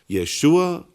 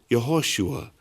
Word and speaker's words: Yeshua: At that time, Jesus' name was probably pronounced even as Yeshua or Yehoshua, as in Hebrew, or Isus, as in Greek.